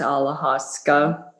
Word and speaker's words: ayahuasca: like i know it's ayahuasca yes people pronounce it different in the states we tend to pronounce alahaska all right thank you that's